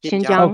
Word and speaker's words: Xinjiang: Xinjiang.